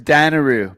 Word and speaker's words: Dunaroo: And it was Danaroo, but it's spelled Dunaroo.